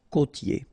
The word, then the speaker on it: côtier: Okay, côtier. Okay, I-E-R here, ye.